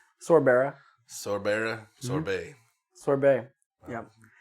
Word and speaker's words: Sorbera: Sorbera.